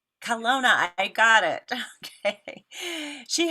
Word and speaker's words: Kelowna: say it right correct me if i don't kelona kelowna i got it okay she has two boys